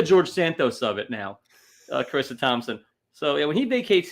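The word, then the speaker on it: Charissa: Do you know how she spells her name, Carissa? C-A-R. No. No. No, then. C-H-A-R. Carissa? Like C-H as in Chianti.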